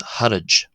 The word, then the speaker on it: charaid: which is why uh the word for friend here courage courage courage courage courage uh is being pronounced karaj karage it simply causes aspirations